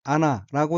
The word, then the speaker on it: 穴: 셋째 줄 오른편 어휘는 한자가 굴혈자이고 일본어로는 아나라고 읽으며 아나는 구멍이란 뜻입니다.